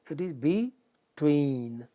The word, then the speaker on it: between: But justice, again initial syllable, but between, it is not between, it is not between, it is between, the final syllable.